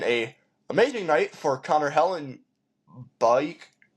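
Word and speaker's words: Hellebuyck: And then a amazing night for Connor Helen Bike, Helenbuck. I think that's how you say it. It's Buck, but with a Y in between the U and the C.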